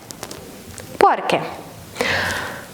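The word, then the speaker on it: porque: Перекину компрес лечи відповідь тому що пишеться разом та саме слово вже не має наголосу і читається порки тому що я працюю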